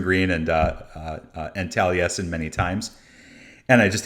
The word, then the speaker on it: Taliesin: it's here in wisconsin whereas that's how you pronounce it okay yeah taliesin and uh and it's in spring green which